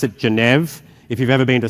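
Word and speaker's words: Geneve: protocol we pronounce it genev if you've ever been to Switzerland that's the way a French person with an Australian accent would say the capital not the capital but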